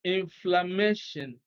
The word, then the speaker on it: inflammation: So stress is on MA before TION.